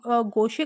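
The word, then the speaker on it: gouache: उसे कहा जाता है उसे गोशे कहा जाता है या गोचे भी इसको प्रोनाउंस करते हैं ठीक है ऑप्शन नंबर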